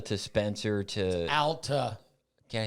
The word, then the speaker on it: Alta: So Alta to Spencer to Alta. Can I say? I always call it It's Alta. Alta. Alta? Yes. Alta? Al. Alta? Like Al, A-L.